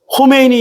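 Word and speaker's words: خمینی: 근데 착 발음을 여기 이게 목 뒤에서 그러니까 이란에 가면은 영어로는 이렇게 돼 있어요. 코메이니 스테이션. 호메이니 역이에요. 전철역이 코메니. 근데 뭐라고 썼어요? K로 썼어. 우리는 뭐로 읽어요? 호메이니로 읽잖아.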